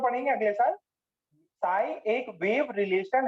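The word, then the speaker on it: psi: दूसरा देखो, साई स्क्वायर जो है, साई square, square of साई, square of साई, यहाँ पे पी साइलेंट है भाई, इसका रियलिटी में इसका has physical significance, has physical significance, इसका रियलिटी में सिग्निफिकेंस है।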